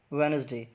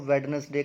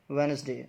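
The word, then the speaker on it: Wednesday: तो इसकी जो प्रोनाउंसिएशन है वो है वेडनेसडे। तो हम लोग क्या करते हैं, हम लोग इसको वेडनेसडे करके बोलते हैं क्योंकि डी है, बट डी जो है वो यहाँ पे साइलेंट है। तो ये क्या है, इट्स वेडनेसडे नॉट वेडनेसडे, ठीक है।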